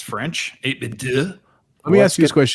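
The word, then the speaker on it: 8BitDo: So I pronounce it 8-bit dough.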